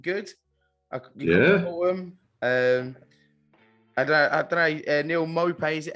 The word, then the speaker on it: Maupay: Neil Maupay, is it? How do you say his name? Maupay, is it? Maupay. Maupay, yeah.